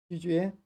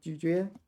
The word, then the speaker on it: 咀嚼: 咀嚼. Third tone, second tone, 咀嚼.